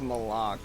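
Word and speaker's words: Malok: I think she forgot that it's pronounced Malak, not Malik.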